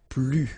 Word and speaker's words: plus: If you want to use plus, more, okay, in some cases you will have to pronounce it plus, okay, so you will see that a bit later, de and then the noun without the article.